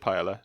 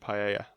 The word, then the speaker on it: paella: similar to Uncle Ben's I said Pilar I meant Paia that's how you say it yeah yeah now these